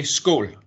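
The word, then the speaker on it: skål: happy for the cooperation how do you say a post or cheers in danish we say school ah school like all naughty countries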